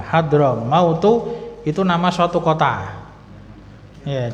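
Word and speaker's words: حضرموت: ilai nah sedangkan Berikutnya hadoro mautu ini jangan diartikan maut ya kematian telah hadir bukan tapi ini Hadro mautu bacanya d apa dodnya disukun jadinya Hadro mautu itu nama suatu kota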